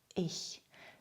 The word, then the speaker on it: ich: Nach den Vokalen E, I, EI und EU spricht man CH weich aus. Dieser Laut kommt im Deutschen sehr häufig vor, zum Beispiel im Wort Ich. Deshalb nennt man ihn auch den Ich-Laut.